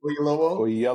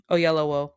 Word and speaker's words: Oyelowo: How do you pronounce the brother's last name? David help me. Oyelowo. Thank you. Oyelowo.